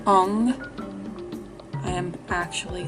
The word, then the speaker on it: Om: So oftentimes you hear Om and you think it's Om, O-M, right? Well, technically that's wrong. Where it is spelled O-M, it's actually pronounced Ong, O-N-G.